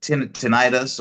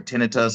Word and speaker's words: tinnitus: If you come home regularly with tinnitus or tinnitus, however you want to pronounce it, which is a ringing in the ear or a buzzing in Right.